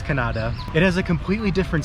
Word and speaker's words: Kannada: I think that's pronounced Kannada. We don't want to say Canada because it sounds like Canada, but I think it's Kannada.